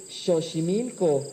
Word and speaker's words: Xochimilco: más o menos entonces realmente deberíamos decir xochimilco y deberíamos decir méxico sabían ustedes eso entonces